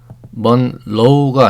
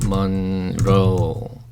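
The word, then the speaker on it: Monroe: 영어로는 메릴린 먼로 이렇습니다 먼로가 아니고요예요 R 발음이 나죠 L 발음이 아니고 R 발음이납니다 먼로 메린 mon 미국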